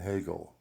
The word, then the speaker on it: Hegel: done my homework and the correct pronunciation is descartes spinoza leibniz schopenhauer and hegel so i'm letting you